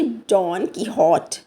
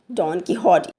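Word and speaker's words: Don Quixote: और यह एक स्पेनिश नवेल से उसका जो मेन कैरेक्टर था जिसको हम प्रोनाउंस भी इस तरह करेंगे। डॉन की हॉट। डॉन की हॉट।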